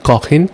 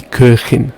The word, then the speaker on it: Köchin: You don't say die Kochin, you say die Köchin.